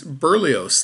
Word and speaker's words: Berlioz: I can at least pronounce this next one. This is Berlioz, the other offspring of Duchess.